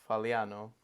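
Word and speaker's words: Fagliano: It is Faliano. You do not pronounce the G.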